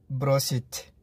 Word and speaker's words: бросить: और प्रोनाउंसिएशन कुछ इस तरह से होगी, ब्रोसिथ, ब्रोसिथ, ब्रोसिथ।